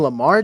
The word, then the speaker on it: Lamar: you convince me that Jamar will get more points than Russell who's Jamar you mean Lamar Jackson I mean he's got